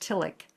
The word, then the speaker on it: Tillich: It's spelled tish but it's pronounced tilic.